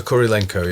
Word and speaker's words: Kurylenko: With the lovely Olga Kurylenko. That's how you say it, isn't it? Olga Kurylenko, yeah.